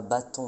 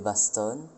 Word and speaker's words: baston: prononçait surtout les S, donc on disait pas forêt mais forest, pas hôtel mais hostel, pas bâton mais baston, et pas côte mais costé.